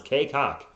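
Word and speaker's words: Cacok: His name is pronounced the way it sounds. Kaycock.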